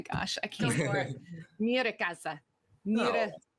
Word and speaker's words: Nyíregyháza: How do you pronounce the name of the town that you're from? Nyíregyháza. Oh my gosh, I can't for it. Nyíregyháza.